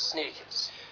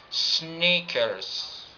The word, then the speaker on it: sneakers: It's like sneakers, sneakers. And the second, your lips are pronouncing E, sneakers, sneakers.